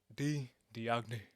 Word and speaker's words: Diagne: You gotta say it like that, D Diagne. That's how you say his name.